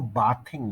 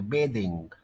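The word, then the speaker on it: bathing: जब उसके साथ आईएनजी लगता है तो हम उसको बाथिंग नहीं कहते, बेदिंग। वैसे आईएनजी ना लगे तो बात, लेकिन जब आईएनजी लग जाए तो इसका प्रोनाउंसिएशन है बेदिंग।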